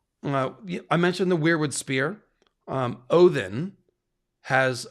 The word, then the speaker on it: Odin: you're basically saying Odin, because the hard D is the more modern pronunciation. The classic pronunciation is Odin, like that.